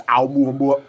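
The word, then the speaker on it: Oumuamua: That's Aumua.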